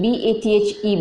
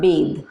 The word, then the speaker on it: bathe: now bath b ath bath is noun and bad b a t h e bed mark the pronunciation bathe bathe is a verb you have to bathe